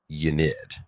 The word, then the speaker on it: Ynnead: So this guy had a plan to awaken the death god Ynnade. Ynnade. Yeah, Ynnead, which Ynnade. Ynnade. I believe the most consistent pronunciation I've heard was Ynnade.